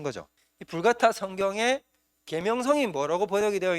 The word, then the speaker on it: 불가타: 번역을 한게 바로 뭐냐면 벌게이트 성경 어 혹은 이제 이거 게이트라는 말은 영어식 발음이고 라틴식 발음은 불 같아 불 같아라는